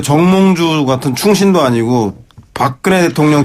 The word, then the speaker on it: 정몽주: 네, 정몽주 같은 충신도 아니고 박근혜 대통령 발음을 정확하게 해주십시오.